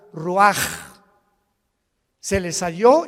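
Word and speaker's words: רוח: rach así como suena se pronuncia la c en hebreo como J ruaj se les hó y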